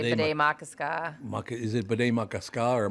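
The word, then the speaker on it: Bde Maka Ska: I used to say Bidet Makaska. Is it Bidet Makaska or Makaska or what is it? You're close. I believe it's Bidet Makaska. So it is the Makaska. ka is the hard syllable.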